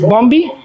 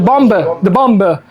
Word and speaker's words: Bombe: Any native speaker, how is that pronounced? Bombi? The Bombe.